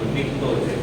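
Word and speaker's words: pnictogen: निक्टोजेन। निक्टो का P silent है, किसके जैसा? साइलेंट वर्ड्स के जैसा।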